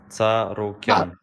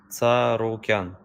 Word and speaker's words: Tsarukyan: Tsarukyan. One more time. Arman Tsarukyan.